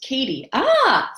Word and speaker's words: Katie: And we got Kathy, it's pronounced Katie. See? Katie, I imagined an H there. No H in your name.